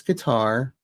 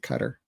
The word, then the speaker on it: Qatar: in that area and she said they pronounce it Cutter. And BBC pronounce it Cutter. Other people say Qatar.